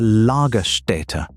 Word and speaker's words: Lagerstätte: Paleontologists call this kind of preservation a lagerstätte, pronounced l-h-g-e-r-s-t-ä-t-t-e.